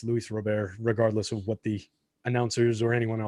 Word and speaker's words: Luis Robert: It's like everybody saying Luis Robert when it's Luis Robert, regardless of what the announcers or anyone else wants to say about it.